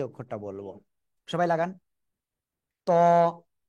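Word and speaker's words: ط: অক্ষরটা বলবো সবাই লাগান ত ত ত ত ত মোটা আওয়াজে পড়তে হবে ঠিক আছে কোনভাবে কিন্তু চিকুন আওয়াজ হবে না ত ঠিক আছে আর এই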